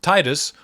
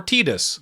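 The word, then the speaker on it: Tidus: And it's either pronounced Titus or Titus. Use whichever. I know there are hypothetical arguments for both, but it's never actually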